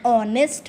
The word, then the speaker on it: honest: H is silent there.